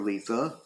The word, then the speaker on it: Litha: Hearth witch's video she does refer to it as Letha quite a bit in fact that's one way uh that I got uh reminded of the correct technical pronunciation though like I said there are some variations on it depending on where you're from and what language you speak and none of them are technically incorrect and so since I